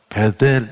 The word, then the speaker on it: 벧엘: 형성에 대안으로 제시 합니다 베텔이 라고 말하지만 원래 발음을 하면 벧엘 이래요 베드 우리 성경의 나옴